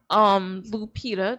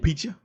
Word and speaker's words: Lupita: Lupita, that's how you pronounce her name, Yeah. right? Lupita.